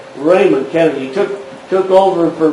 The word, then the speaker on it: Ramon: oh yeah Raymond Kennedy spelled r-a-m-o-n like Ramon and what they always pronounce it Raymond Kennedy took took over